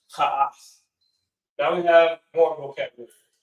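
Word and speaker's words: kaf: Kha means wall, and it's pronounced ka'af.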